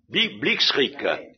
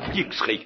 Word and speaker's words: Blitzkrieg: C'est bien à peu près comme ça qu'il faut prononcer, non? Blitzkrieg. Ah, c'est ça, oui, c'est ça, c'est bien ça, Blitzkrieg, la guerre éclair.